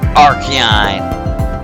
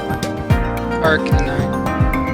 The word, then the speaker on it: Arcanine: this pack, blessed by the great Pokemon of Archon. I pronounced that wrong, didn't I? Arcanine.